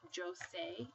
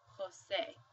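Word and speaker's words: José: seen this name before you don't pronounce it as Jose you actually say Jose because J sounds like an H so we would pronounce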